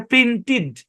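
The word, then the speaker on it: printed: হইলো না তারপর দেখেন কিলড এখানে ই এর উচ্চারণই হয় নাই তারপরে দেখেন এখানে লেখা প্রিন্টেড এখানে আছে ই কিন্তু ই এর শর্ট সাউন্ড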